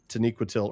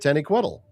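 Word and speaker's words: Taniquetil: I do admit that I I failed at Taniquatil early on. I just and it's because I listened to the the the audio book and so I was pronouncing it Tenny Quiddle.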